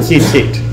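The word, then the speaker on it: ציצית: We pronounce it tzitzit. There's a chilik, there's the e vowel under that first taf, but the second yud doesn't appear in the Torah.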